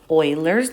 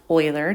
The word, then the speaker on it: Euler: last lesson we mentioned that it was called euler's number so remember that's pronounced euler not euler um and sometimes it's also called